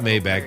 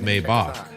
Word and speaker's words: Maybach: It's not It's not Mayback. It's Maybach.